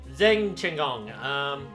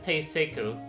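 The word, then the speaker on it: Zheng Chenggong: Zheng Chenggong, commander of a fallen country. Pronounced locally as Teiseku.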